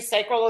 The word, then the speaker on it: sacral: So I just pronounce it a little differently, sacral authority for me, and that's okay. Either pronunciation is good. So I want people to know that out there. I say sacral authority is about being